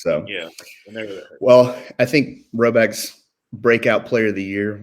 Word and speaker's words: Rhoback: We are fans of polos from our friends at Roback.